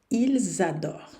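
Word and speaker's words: adorent: plural com ent certo o ent não se pronuncia nunca quando é uma conjugação na terceira pessoa do plural na dúvida veja o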